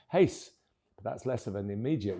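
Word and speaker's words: Reis: whose second name is spelled R E I S, but pronounced Hace.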